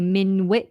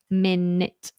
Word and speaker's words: minute: wait a minute so the word minute ignore that you we don't say Mint or Minit or anything like that Minit minute minute wait a minute wait